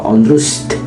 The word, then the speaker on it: Onrust: milik Belanda yang bernama Ondrust. Sebenarnya bacanya sih kurang lebih Onras atau Onrust.